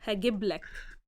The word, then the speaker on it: هجيب لك: Just like when we say هجيب, if we don't have a prefix, a personal pronoun prefix, we say it with the original pronunciation of it. هجيب, يجيب, تجيب. But when it's followed with a prefix, هجيب لك. I'll bring for you. So we shorten the vowel sound.